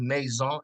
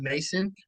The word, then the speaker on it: Maison: born in May but my last name is maon actually if you pronounce it correctly right not Mason but you know over time